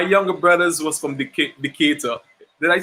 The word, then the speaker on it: Decatur: but um my younger brothers was from the decatur did i say it right yeah yeah decatur yeah yeah george again ata george i remember